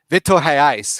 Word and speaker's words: Vitor Reis: I think that's why the links to Reyes, the highly rated Vitor Reyes, yeah, Vitor Reyes. There we go. Vitor Reis, because it's a Brazilian Portuguese, so they pronounce the R a little bit different.